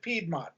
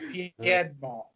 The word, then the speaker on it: Piedmont: For us, it's just Piedmont, not Piedmont.